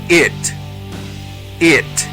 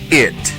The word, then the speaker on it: it: Es un sonido entre la letra E y la letra I juntas y se pronuncia I, I, I, como en las palabras big, big, que significa grande, big, y la palabra it, que es un pronombre personal.